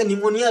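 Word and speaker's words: pneumonia: इन निमोनिया disease जैसे पहले तो निमोनिया का स्पेलिंग देख लीजिए ये आपकी जब में करेक्ट स्पेलिंग में आता है जी ठीक है ये पी जो है साइलेंट है है ना ये फेफड़ा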